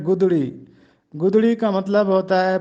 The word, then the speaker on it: گدڑی: اوڑھا کرتے تھے۔ گدڑی، اکثر لوگ اس کو گدڑی پڑھتے ہیں جو کہ غلط ہے، یہ درست تلفظ ہے گدڑی۔ گدڑی کا مطلب ہوتا